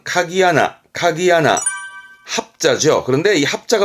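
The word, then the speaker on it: 鍵穴: 혈자 구멍 그러니까 건 혈이 아니고요 열쇠 구멍입니다 발음은 카기 아나 카기 하나 합자 그런데이 합자 붙게 되면서 서로를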